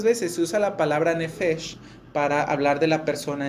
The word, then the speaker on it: nefesh: con toda su alma en hebreo la palabra alma se pronuncia nefes y literalmente significa garganta